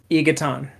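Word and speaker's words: Y'Ghatan: The remnants of the apocalypse arrive at and seize Ygotten. How do you say that? Ygotten? Yeah, I will never say it that way. It's Egaton.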